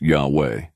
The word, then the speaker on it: Yahweh: God's name, pronounced Yahweh, the Father, and Jesus Christ, the Son.